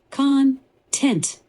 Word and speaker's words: content: Content with the emphasis on the first syllable, like the material or substance of something.